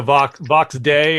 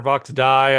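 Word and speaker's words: Vox Dei: We get into Vox Day or Vox Die. I forget how it's pronounced. Day? Day. Yeah, Vox Day. I think it's Vox Day. Yeah. Day, if you're saying it in Latin. Yeah.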